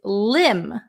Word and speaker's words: limb: the next one is limb limb silent be a limb is very